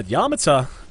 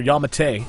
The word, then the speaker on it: Yamate: Yeah, Yamata, it's worse, or Yamate, as I've been informed it's pronounced.